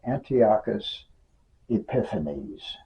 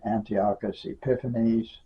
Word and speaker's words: Antiochus Epiphanes: by the name of Antiochus epiphanies and people pronounced in various ways Antiochus epinephrineus or something on that order I just always said Antiochus epiphanies do the best I